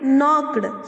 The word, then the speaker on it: knocked: It is started from K, but we pronounce it knocked. Here, K remains silent.